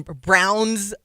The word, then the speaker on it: Braun: he's saying and then he pronounces my guy uh Christian Brown's name wrong. It's because it's like oh my gosh he says Braun and I'm like you're a professional.